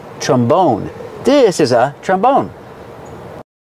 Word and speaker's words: trombone: is called a trombone put the stress on the second syllable trombone this is a trombone